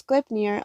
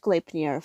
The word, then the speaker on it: Gleipnir: That's how you fucking pronounce Gleipnir. I was fucking right. I was right all a fucking long. I shouldn't have doubted myself. It's pronounced Gleipnir.